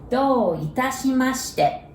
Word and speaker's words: どういたしまして: And let's take a look at do first. D-O-U. That's the same as domo's do. Domo is thanks, right? There is O-U, so you pronounce it like O. Do. So same as cookie dough or pizza dough's dough, right?